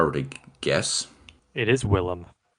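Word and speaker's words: Willem: is that's his name William defo I mean you can call him that if you want but that's not his name is that how you spell it no it's w i l l e m Willam okay well um shows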